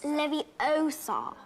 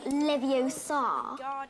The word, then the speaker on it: Leviosa: take someone's eye besides you're saying it wrong it's Leviosa not Livio sod you do it then